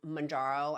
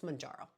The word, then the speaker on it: Mounjaro: Terra zepeti it's teepati like mararo is mararo and I used to pronounce it I forget how I used to pronounce it it's mararo it's how you pronounce mararo um this is meant